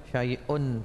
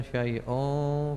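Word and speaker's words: شيء: fisama wahua samiul Alim Apakah membacanya la yaduru maasmiaiun fil ardhi atau saaiun fil ardhi nah ini bukan al-qur'an sehingga tidak terikat oleh kaidah-kaidah tajwid jadi bacanya syaiun fil ardhi tidak apa-apa kalau tajwidkan saaiun fil ardhi apa bacaannya itu tanwin ketemu FA ikhfa ya 100 ah doa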